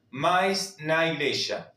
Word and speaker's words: igreja: servir igreja iglesia. Fíjense que se escribe igreja. Esta J ya lo vimos cuando trabajamos el abecedario, se pronuncia como una y o como una sh y creya.